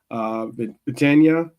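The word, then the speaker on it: Vitinha: probably go Donnarumma, Hakime, Marquinhos, Pacho, Mendes, Ruiz, Vitania, that's how you pronounce his name, Neves, Dembele, Barcola, and possibly KK.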